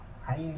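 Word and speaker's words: عين: But when ain is pronounced, the restraint, a force, and the throat is restrained to squeeze and make the sound.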